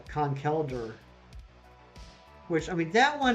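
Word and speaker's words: Conkeldurr: i've been saying concalder but it's uh khan kelder which i mean that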